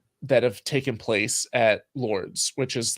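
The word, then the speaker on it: Lourdes: whatever it is and so they go to Lords and it's spelled like l-o-u-r-d-e-s and if you look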